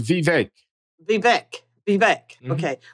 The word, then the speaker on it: Vivek: and I liked Rhonda Sanchez uh with uh be back how do you pronounce her name babek uh I think he says Vivek be back be back okay well with him